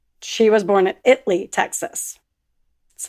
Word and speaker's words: Italy: Spelled Italy, pronounced Italy.